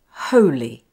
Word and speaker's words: holy: The ho is ho, not ho, and the li is pronounced l and the short vowel sound I, li.